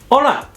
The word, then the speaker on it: hola: say hi or buy hola this is by far the most popular greeting in spanish make sure you don't mispronounce this word though repeat after me o always silent h in spanish la depending on the time